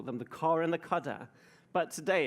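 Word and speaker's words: cdr: The cudder, this is actually the canonical pronunciation, is the car of the cudder, which will be the third element, and you could keep going.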